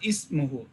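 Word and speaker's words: اسمه: Here we will pronounce the alif because it is at the starting of the sentence.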